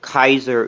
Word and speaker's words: Kaiser: saying your name so we know how to pronounce it properly uh well my username Kaiser Kaiser comes from the German word for